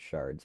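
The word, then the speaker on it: sherd: it is actually pronounced shards by the way yeah oh is it yeah my bad it just looks like shirts people are freaking out because it's shirts and then it's actually still pronounced shards and just nobody that's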